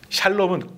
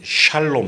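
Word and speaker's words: שלום: 이렇게 샬롬 이렇게 시작하고 시옷 발음이 굉장히 이렇게 샤 이런 발음이 나오는데 샬롬 해갖고 이렇게 목걸이도 걸고 오는 그런 분들, 그건 히브리어고요.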